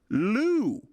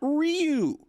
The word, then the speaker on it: Ryu: But upon leaving for Asia, he has now told everyone that his name is actually pronounced Hyunjin Liu, not Ryu.